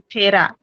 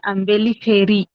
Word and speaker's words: Umbelliferae: Pronounce not Fera. At the ending, you have to talk as a Ambeli Feri.